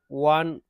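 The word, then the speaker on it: one: ঠিক আছে, তো এখানেও আসবে হচ্ছে এ আসবে, কেন আসবে ওয়ানে, এটা কনসোনেন্টের ডাব্লিউর মতন উচ্চারণ করে এটা। ঠিক আছে, sound like W, সো ইউজ এ।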